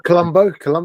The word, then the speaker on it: Columbo: Oh, yes, it Carlumbo. Carlumbo. The English pronunciation, all right. The proper English pronunciation, Columbo.